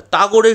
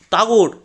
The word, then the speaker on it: টাগোর: তাগরের সঙ্গে আমার কত আলাপ ছিল। তাগরের সঙ্গে? তাগর আবার কি? বা, রবীন্দ্রনাথ টাগোর। আমি বুঝলাম কবিগুরুর নামের ফরাসি উচ্চারণ এইরকম দাঁড়িয়েছে।